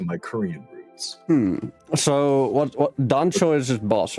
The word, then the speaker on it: Dancho: So the correct pronunciation is Dancho. Is it Dancho? Oh, yes, Dancho with the hard A, right?